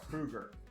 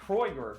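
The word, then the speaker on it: Kreuger: Kruger is spelled K-R-E-U-G-E-R. Kruger. Not Kroiger.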